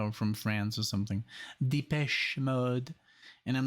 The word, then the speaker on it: Depeche Mode: somebody said like this is the way you pronounce them because they're from Canada or from France or something Depeche Mode and I'm like okay so the patch mode